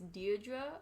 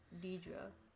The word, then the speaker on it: Deirdre: think this is pronounced you think it's deidre or deidra i think it's deirdre because she's a deer yeah that probably seals